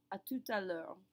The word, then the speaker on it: à tout à l'heure: But when I put the sentence together, I say à tout à l'heure. Do you hear that second T that gets pronounced right there at the end of tout?